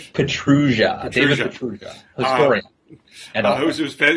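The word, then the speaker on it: Pietrusza: I was pronouncing his last name wrong. Petrugia.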